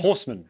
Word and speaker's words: Horseman: Horseman, like Horseman. The animal and the Horseman.